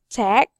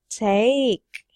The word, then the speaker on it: take: word to tack okay you read it like tech but the correct pronunciation for that is take yes don't forget to